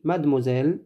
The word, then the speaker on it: mademoiselle: de moselle mademoiselle mademoiselle on dit mademoiselle mademoiselle aux hôtes aux